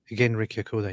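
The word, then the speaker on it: Genrikh Yagoda: How you pronounce the name? Genrik Yagoda? Genrik Yagoda, yeah.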